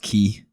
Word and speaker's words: quay: I think it's pronounced key. Nah, it's quay for sure. Kyle was right. It's key.